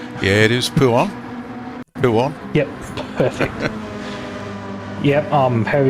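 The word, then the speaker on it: Pouhon: of fast left-hander, which I think is called Puon, but don't quote me on that. I'm not really good with corner names. Yeah, it is Puon. Puon. Yep, perfect. Yep, however you pronounce that, I'm trying to not giggle like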